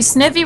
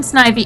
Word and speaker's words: Snivy: They say sniffy rather than snivy and fan rather than fan.